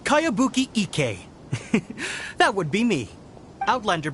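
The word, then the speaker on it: Kayabuki Ikku: new one i've never heard of it by cowabunga icky this is a really strange name who's this cowabunga it's pronounced kaiabuki ek that would be me outlander brigade is a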